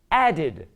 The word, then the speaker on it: added: D or a T, automatically it's pronounced id. So this verb is pronounced added. Again, another syllable.